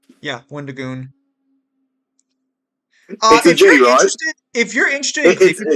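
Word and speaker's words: Wendigoon: very poor name yeah Wonder goon if you're interested it's Wenda and then G for goon right it's Wendy okay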